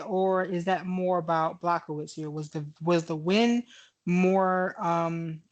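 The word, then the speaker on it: Błachowicz: Well, it, it, Blachowicz, that's how it, you say his name.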